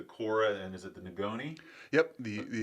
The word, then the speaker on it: ngoni: you're gonna have to help me with the pronunciation. But there's the Cora, and is it the Nagoni? Yep, the Ingoni, Okay.